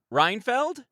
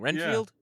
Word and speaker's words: Renfield: baby we're starting with I'm gonna say it wrong reinfeld was it renfeld I always say it wrong Renfield okay yeah Renfield well that's what we're starting